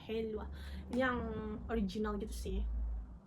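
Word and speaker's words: helva: Tapi ini yang kan kalau di Turki ini bacanya W ya, jadi kita bacanya Helwa.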